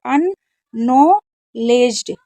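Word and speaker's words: unacknowledged: देखिए यहां पर डी जी अगर होता है तो डी साइलेंट रहता है तो अननोलेज्ड अननॉलेज्ड अननॉलेज्ड इस तरीके से इसको आपको पढ़ना है ठीक है शिव कुमार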